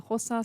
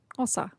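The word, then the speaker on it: Xhosa: madiba clan of the hosa speaking temboo people it's actually spelled x-h-o-s-a and the x is usually pronounced with a click so it should be ossa i hope i have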